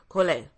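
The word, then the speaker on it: Collet: sure I am cuz they in France you don't pronounce the the team cool a wonderful wonderful wonderful CE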